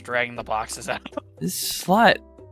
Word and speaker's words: slut: Yeah, it's pronounced slut in our language. It's pronounced slut in his.